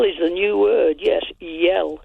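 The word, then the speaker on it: iel: Yell is pronounced. Yell.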